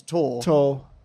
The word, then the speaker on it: Tor: The clue to how to pronounce her name is in the repeated fact that every time I said Tors, I said, no, that's not her name. Her name is Tor. Tor.